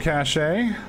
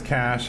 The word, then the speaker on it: cache: Luke Cachet. Sorry, it's Cash. I don't know. Ever since I grew up, I have always mispronounced Cash as Cachet.